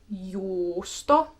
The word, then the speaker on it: juusto: Now, let's take a moment and remind ourselves, when there is a double U, kaksi uta in a word, you want to stay on that vowel a tad bit longer.